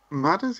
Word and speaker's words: Madders: Madders, yeah. Madders. Yeah, it's the first syllable of the name with ers afterwards.